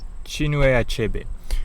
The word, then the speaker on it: Chinua Achebe: It's a book by Chinua Achebe. I believe that's how it's pronounced. Chinua Achebe.